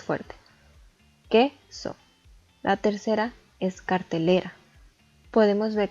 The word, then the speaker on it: cartelera: La tercera es cartelera. Podemos ver que contiene 4 sílabas y la que tiene más entonación es le, cartelera.